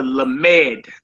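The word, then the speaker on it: lamed: The next letter makes and is pronounced with an L as in look. As in look. All right. And it's the lamemed.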